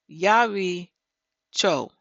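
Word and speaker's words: יְרִיחוֹ: I mean it is H 3405 and it's pronounced as Yari Cho Yar Cho now Jericho is a city of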